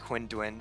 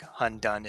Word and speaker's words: Hundun: But it's definitely more like Hunduin and Qilin than like Hundun and Killin.